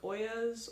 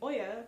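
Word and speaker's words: olla: Some other things you can do, you can add things like Oyas or watering bulbs.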